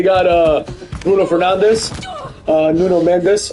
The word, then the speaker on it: Nuno Mendes: Portugal has, you know, they got uh Bruno Fernandez, uh, Nuno Mendes, or as they say, Nuno Mench is, you know, we have to pronounce it correctly.